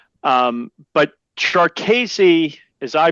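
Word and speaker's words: Jarkesy: it yeah uh jassy one of the big debates is how to pronounce it jesi jery uh I think either's fine um but chesi as I pronounce it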